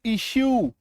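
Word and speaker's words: issue: तो जब किसी शब्द के लास्ट में यूई आए तो ऐसे शब्दों में यूई का उच्चारण य में बड़ी उकार की मात्रा होती है।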